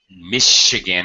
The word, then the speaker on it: Michigan: especially American place names because Michigan has an SH Chicago has an SH sound not sure how this